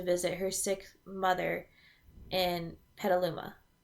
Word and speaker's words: Petaluma: her sick mother in Petaluma. Right? That's how you say it? Yeah, Petaluma.